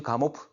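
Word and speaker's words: Gamow: 조지 가모프. 가모나 또는 가모프라 그래. 원래 뭐 미국식 현재 발음 자체는 우리가 영어로 이야기를 하면 가모가 되지만 원래 이 사람은 러시아 사람에서 가모프.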